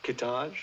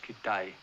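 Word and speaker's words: Kitaj: There's Hedgepath, Kittage. It's pronounced Kitai.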